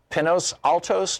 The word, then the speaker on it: Pinos Altos: Ben, in Pinos Altos, New Mexico.